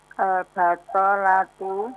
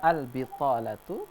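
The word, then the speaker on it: البطالة: Nah, Al-batolatu al-bitalatu, begitu bacanya.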